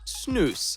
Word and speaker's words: Snus: cultural tradition from Sweden Snus pronounced snooze has deep roots in